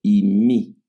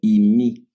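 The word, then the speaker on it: εἰμί: Es el verbo y mi. Así se pronuncia. El verbo imi es el verbo ser, estar y puede también traducirse como haber el verbo y mi, el verbo y mi, así se pronuncia, el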